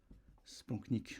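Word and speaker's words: splanchnique: Spanknic, j'en ai déjà parlé en en podcast. OK, ça s'écrit spanchnic mais ça se dit spanknic.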